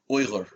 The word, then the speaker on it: Uyghur: i mispronounced it it's i feel like you the way you said it was oiler right yes okay okay and